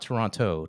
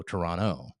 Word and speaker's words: Toronto: Then I flew up to Toronto, not Toronto, Toronto, and I met with for the first I time. love that you say it right, bro.